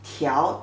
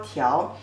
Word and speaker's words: 条: 面条, this character pronunciation is 条, 特邀条.